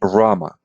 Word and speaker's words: Rama: correctly why is fine Rama okay Rama almost like Roma like my name is Roma actually right my short name so Rama that's that's very close okay great all right